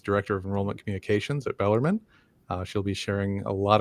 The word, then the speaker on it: Bellarmine: It's pronounced Louisville, and it's pronounced Bellarmine.